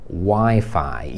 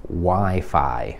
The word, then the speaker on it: Wi-Fi: i to jest słowo wi-fi i prawdopodobnie już wiedziałeś że to się mówi WiFi jakbyś rozmawiał z nativem z angielskiego albo może nawet ktoś z innego kraju i byś powiedział wi-fi A to myślę żeby